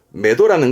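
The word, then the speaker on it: 目処: 첫자 우리말을 그렇습니다 마는 그러면 눈이 가는 곳이잖아요 발음은 매도합니다 매도 매도하는 건 눈이 가는 곳이니까 목표 목표나 목적 보통은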